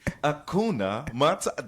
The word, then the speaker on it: Hakuna Matata: Hakuna Matata.